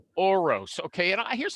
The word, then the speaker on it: Orosz: okay uh the guest today is named oroz okay and here's how i'm going to introduce